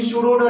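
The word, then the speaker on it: pseudo-order: In pseudo-Oder reaction P word is silent.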